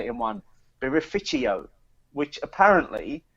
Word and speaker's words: birrificio: Beerificio. which apparently it's a new word that's been created in the Italian language that's used specifically to associate with artisanal Italian brewers and breweries. So birrificio.